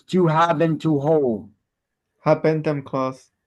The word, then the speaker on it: habendum: Habendum clause. 2 is E. It is the habendum clause. I like to mispronounce it to remember it. It is the have been to hold clause.